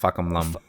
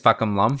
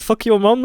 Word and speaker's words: Fahkumram: It's Fahkumram. Fahkumram, not fuck your mom. It's like... yeah. I don't know. It's too hard for me to pronounce. Even the announcer, the R is changed to an L.